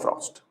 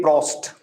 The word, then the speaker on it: Proust: This was said by Joseph Proust. Clear about it? Now, several times you will see that you will hear that I'm saying PF mix. So, don't think that I'm not saying Proust properly.